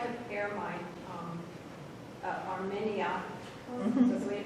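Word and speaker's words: Armeria: But I always like to pair my Armenia, that's the way you pronounce it, with Tulips.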